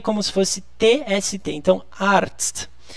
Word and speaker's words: Arzt: Arzt. Gente, separa. Vamos falar ar e depois tst, tst, tst, tst, tst, tst, tst.